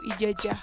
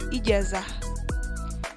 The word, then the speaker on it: ijazah: Contoh lainnya seperti pada kata ijazah dilafalkan ijazah atau ijajah, semestinya ijazah.